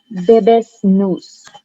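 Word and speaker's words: Bebas Neue: The font that I usually use for Wise is Bebes News.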